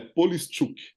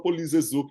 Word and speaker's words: Polischuk: ucraniano, origem ucraniana, então a pronúncia correta é Polischuk, né? Mas Ah, aqui no Brasil a gente só ah, fala Polizezuk, meu.